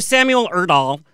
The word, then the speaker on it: Samuel Erdahl: Joining us is Billboard charting artist Taylor Olson, the cast of Besties, actor Samuel Erdahl, that's how you say his name, and Braden